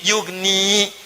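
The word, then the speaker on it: يغني: Ya-nya dibuang. Padahal asalnya bisa dibaca begini. Yugni. Tapi karena ada in, ya-nya dibuang. Jadi yugni, cepat. Ada ya, bacanya panjang. Yugni. Tidak ada ya, baca cepat. Yugni.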